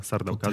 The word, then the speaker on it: Sardaukar: pamiętamy w pierwszej części sarda karów to się tak wymawia sardaukar czyli armia Imperatora Krótko